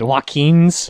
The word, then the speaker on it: Joaquin: I don't give a about pronunciation okay was it joaquin's yeah yes it's Joaquin Phoenix yeah his brother's